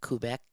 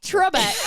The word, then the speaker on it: Trebek: I mean, I went on Alex Kubek show. Alex who? How do you say it? Quebec is in Canada. Quebec, Canada. I can't even say Trebek. that. Trebek.